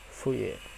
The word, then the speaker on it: Fourier: Transformasi Fourier. Kita ingat ya, bacanya Fourier bukan Fourier ya, tapi Fourier.